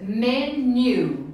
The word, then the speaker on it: menu: Gente, olha a pronúncia. Menu. Menu. Igual new de novo.